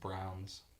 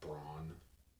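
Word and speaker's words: Braun: lots of Browns yeah it's just weird because his like spelled like brawn oh really yeah it's spelled it's brown it's about like b-r-a-u-n it's really weird I thought it was Brawn but then the announcer was saying Brown I was like for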